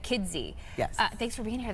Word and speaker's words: Kidsy: I just want to pronounce that D so you don't miss it. Kidsy.